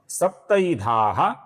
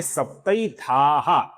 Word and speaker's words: सप्तैधाः: फिर नाम है सप्तैधाः। आकार को विसर्ग है, ये सप्तैधाः नहीं है, सप्तैधाः है।